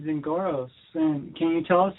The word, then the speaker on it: Zingoros: Zingoros or? Yeah, that's correct. You're actually one of the first people to be able to pronounce it. So, yeah, you're correct.